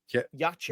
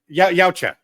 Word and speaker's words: Yautja: Yeah. Yacha. No. Yautja. Yeah. Yautja. Sorry, I want to get that right because I know I'll get my ass handed to me later on.